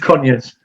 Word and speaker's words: Conyers: It's just Conyers. Conyers. It's just Conyers. Yeah, Conyers, that's all it is and stuff. Hello, Karen, how have you been? I'm good. As in Conyers.